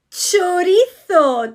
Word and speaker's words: chorizo: And let me tell you, paellas never, ever, ever have chorizo. Chorizo, not chorizo, chorizo.